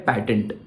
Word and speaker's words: patent: चीज होती है जिसका नाम होता है पैटेंट या फिर पेटेंट। वो दोनों तरीकों से प्रोनाउंस किया जाता है यूजुअली।